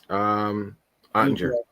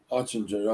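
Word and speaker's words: Oettinger: How do you pronounce his name again? Who's that? The Stars goalie. Ottinger. Ottinger, that's right.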